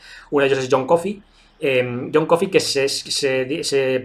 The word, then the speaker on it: Coffey: Coffey se lee igual o se dice igual, pero se escribe distinto.